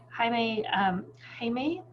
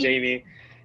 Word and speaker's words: Jaime: So Jaime, are you ready? Yes, excellent. Thank you for saying my name so correct and proper. So appreciate that. And not saying Jamie.